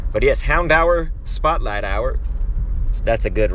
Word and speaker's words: Houndour: tower it's funny because i used to always say hound door but i believe it's actually pronounced hound hour and of course no